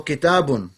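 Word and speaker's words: كتابٌ: say it properly inshallah so kitab is fine but the proper way of saying it is kitabun so when i go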